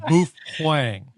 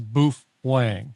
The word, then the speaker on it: Baofeng: think we should make that clear the correct pronunciation as you would know because you wrote the book is bof hang yeah for anybody wondering it is boof Wang you know and and um the the book